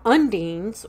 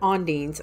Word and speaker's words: undines: Now, undines, or some people pronounce it ondines, O-N-D-I-N-E-S instead of U-N-D-I-N-E-S.